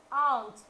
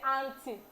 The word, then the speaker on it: aunt: Now let's move to another one, which is aunt. When we say aunt, A-U-N-T. Some of us will say auntie. I'm going to my auntie place. The better pronunciation is aunt.